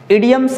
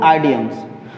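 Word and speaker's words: idioms: चलिए, आपका second part है इडियम्स and phrases. You have to pronunciate it इडियम्स नॉट आइडियम्स। बहुत सारे बच्चे इसको आइडियम्स बोलते हैं, इडियम्स एंड फ्रेजेस।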